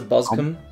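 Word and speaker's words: Boscombe: the boscom valley mystery I pronounced as bosum bosum Ooh how intriguing it must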